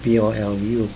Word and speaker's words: Polu: And so you have to be a native speaker, you have to know Chamorro to know that even though it is spelled P-O-L-O, you would pronounce it P-O-L-U, Polu.